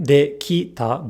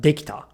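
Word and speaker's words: できた: But in its past form, this R becomes a T, and this I gets devoiced because T, t, t is an unvoiced consonant. Thus, not dekita, but dekita, dekita, k, dekita.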